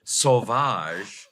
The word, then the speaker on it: Sauvage: Care Podcast with Adam Sauvage and Craig Ferguson. It isn't French, your name, is it? Savage? It is French. I was just going to say that's the correct pronunciation.